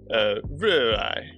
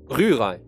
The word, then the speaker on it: Rührei: Because the R is kind of, that's two ways, but the R is really in the throat.